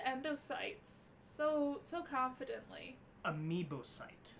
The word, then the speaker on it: amoebocyte: Horseshoe crab blood contains a unique enzyme called Liminus amoebocyte lysate, or LAL.